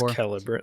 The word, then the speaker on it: Celebrimbor: Is it C? Is it a soft C? I thought it was Celebrimbor. Yeah, I think it's Celebrimbor, like with the hard C.